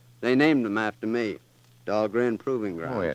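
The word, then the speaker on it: Dahlgren: Dog grand proving grounds. Oh yes, that's right. Of course they uh they mispronounce it down there. Doll Green, they say, but still named after me.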